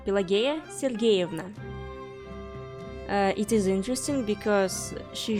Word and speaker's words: Pelageya Sergeyevna: Her full name is pronounced Pelageya Sergeyevna.